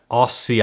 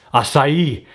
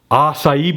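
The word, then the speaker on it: açaí: and that is all me that is my Aussie I I just totally butchered that name Aussie us acai acai bowls acai bowls love them that's super healthy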